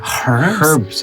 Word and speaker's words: herbs: the uk we say herbs and spikes that's interest sound weird to you um no but well at least in the philippines we say herbs and spices we don't pronounce the h right right i i